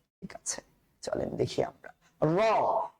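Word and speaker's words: ر: চলেন দেখি আমরা র। র র অবশ্যই রটা মোটা করে উচ্চারণ করতে হচ্ছে।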